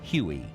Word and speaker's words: Huey: The helicopter quickly developed a nickname derived from its designation of HU-1, which came to be pronounced as Huey.